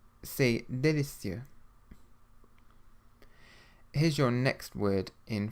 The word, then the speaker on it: délicieux: The letter E with an acute accent, like the one in délicieux, should be pronounced like the vowel sound in the English word pay, but without the Y sound, e.